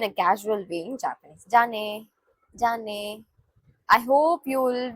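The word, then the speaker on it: じゃね: Jane. So this should be pronounced as Jane. Jane.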